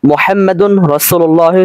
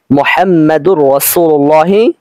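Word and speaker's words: محمد رسول الله: তাহলে উচ্চারণটা হবে এরকম মুহাম্মাদুর রাসূলুল্লাহি সাল্লাল্লাহু আলাইহি ওয়াসাল্লাম। তবে এরকম একসাথে উচ্চারণ করা যাবে তখনই যখন রাসূলের শুরুতে আলিফ লাম আসবে। এখানে যেহেতু আলিফ লাম নেই রাসূলের শুরুতে কাজেই আমরা এখানে মুহাম্মাদুর রাসূলুল্লাহি সাল্লাল্লাহু আলাইহি ওয়াসাল্লাম এভাবে উচ্চারণ করতে পারবো না।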